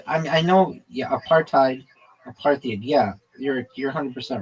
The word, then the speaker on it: apartheid: In American English, the H sound disappears in practice when preceded by a consonant such as T.